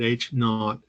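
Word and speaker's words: H₀: correct H naught this H Sub Zero we pronounce that H not stands for the null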